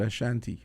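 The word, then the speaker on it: Asanti: One of the things you have to remember with these names, the S is pronounced like a H, SH. Oh. Because if you notice, you know the word Ashanti, but it's Yes. actually spelled A-S-A-N-T-I.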